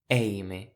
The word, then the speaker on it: èime: comme dans "eissut" (sec) et le ÈI, qui est très ouvert. Comme dans "èime" (discernement).